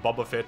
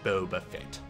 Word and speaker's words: Boba Fett: of shows like the Mandalorian the book of Bubba Fett and Obi-Wan Kenobi um actually it's pronounced Boba Fett pseudo intellectual tuna I've been incorrectly pronouncing his